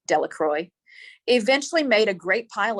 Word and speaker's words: Delacroix: Bobby and Harry Jones and Dickie Delacroix, the villagers pronounced this Delacroix, eventually made a great